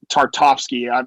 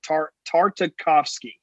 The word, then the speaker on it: Tartakovsky: can't i can't think tartovsky i right 100 butchered that name oh here i wrote it down tartakovsky that's really hard to say but yeah he's the